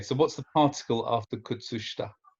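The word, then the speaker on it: 靴下: The sh in shita, kutsushita, it's quite a clearly pronounced sh. So it's kutsushita, kutsushita. Kutsushita. Yes. Good. Kutsushita. Kutsushita. It's like Polish.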